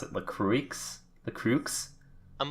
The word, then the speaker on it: LaCroix: LaCroix? LaCroix? I'm like, LaCroix? I'm 95% sure it's pronounced LaCroix. LaCroix. Yeah, it's like French or whatever.